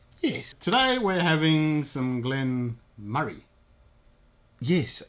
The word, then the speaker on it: Glen Moray: today we're having some glenn murray yes i've always probably answered glenn moray because that's how it's spelt but i thought exactly the same until i looked and it's actually murray whatever